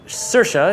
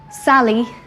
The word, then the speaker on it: Saoirse: can just call me what's most creative pronunciation of your name you've ever heard Sally and jasmine which are two entirely different names do you